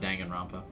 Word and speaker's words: Danganronpa: something I'm gun rambha I always thought danganronpa I think that's how you say it when it's all